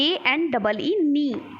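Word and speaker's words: know: नो ठीक है नो नो मैं यहां पर क्या होता है के शब्द साइलेंट होता है ठीक है कैसे नहीं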